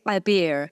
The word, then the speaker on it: Abir: I know that I have to say it with an ayn, right? Abir.